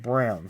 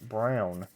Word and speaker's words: Braun: brawn like todd braun but it's pronounced brown so it's colin brown be nice if we